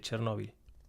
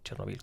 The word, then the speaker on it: Chernobyl: Vi un documental, creo que fue en Cuarto Milenio o algo así, sobre Chernóbil. O Chernobyl, como se pronuncia.